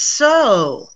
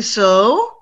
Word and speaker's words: sew: cough tough cough tough this is another one that people mix up new which is ooh versus so miriam can you sew yes i can good for you you can sew some buttons on some of my shirts okay i cannot sew okay so new so